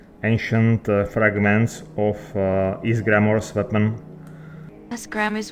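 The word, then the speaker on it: Ysgramor's: Isgramor's weapon, not Isgramor's.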